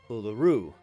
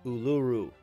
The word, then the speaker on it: Uluru: to stand on now OS pronounced Uluru not Uluru get a load of